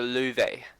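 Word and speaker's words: Löwe: It's actually called, it's the Lowe. I actually googled how to say it, and I think that's right.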